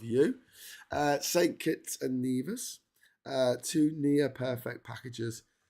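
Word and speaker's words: Nevis: And then the other one is called Neas. It's pronounced Neas, not Nervous.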